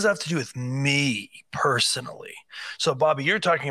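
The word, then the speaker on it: מי: the word for who the actual Hebrew word for that were English word who is uh actually pronounced in the Hebrew me so in the word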